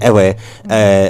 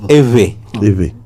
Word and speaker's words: Ewe: So we pronounce it like we're pronouncing an English word or even any of our other local languages. But because we don't have knowledge about Ewe, we don't know that that's V in the middle.